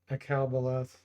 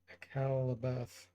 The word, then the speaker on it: Akalabeth: Satstam says, yeah, Garia did that with Akalbaleth. I pronounced it wrong. Akalabeth.